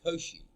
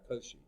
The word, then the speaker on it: Cauchy: You know, the French mathematician Augustin Louis Cauchy, I think is how you pronounce, Cauchy, who lived from 1789 to 1857.